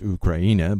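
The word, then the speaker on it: Україна: Uncertain parentage up to Ukraine pronounced ukraina by ukrainians offers very little in the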